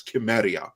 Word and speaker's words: Cimmerian: And Cimmerian sent us $2, although I will always maintain that the proper pronunciation is Chimeria, but that's me.